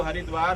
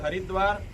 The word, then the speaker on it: हरिद्वार: जगत गुरु शंकराचार्य जी महाराज का ये कहना था, ये जो हरिद्वार है, इसको कुछ लोग हरिद्वार और कुछ लोग हरद्वार उच्चारण करते हैं, तो दोनों सही है।